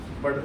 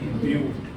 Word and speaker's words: but: आता है ब्यूट, BUT, बट वैसे तो बट बोला जाएगा लेकिन इसकी प्रोनाउंसिएशन क्या है? ब्यूट।